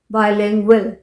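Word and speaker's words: bilingual: भी प्रोनाउंस करते हैं, जैसे जी के बाद अगर यू आ रहा है तो most of time it is pronounced as व, जैसे एंग्विश, GUISH, वो। बाइलिंगुअल, यहाँ पर भी GU, बाइलिंगुअल, वो का साउंड आ रहा है।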